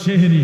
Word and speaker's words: সাহরি: এটার আমার নাম হইলো সেহেরি সেহেরি মানে সেহেরি আর কি তো অরজিনালি সেহেরি শব্দটা ঠিক না অরজিনালি শব্দটা হলো সাহরি আপনাদের সিলেটের মানুষ তো